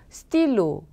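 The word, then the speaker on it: stylos: 먼저 스틸로 볼펜 이었는데 sc 붙여서 스틸로 발음 똑같죠 자 끝에 자음 보통 발음하지 않는다 s1 경우는 절대로 발음하지 않는다 그래서 스틸로 똑같네요 그다음 떠 므 사과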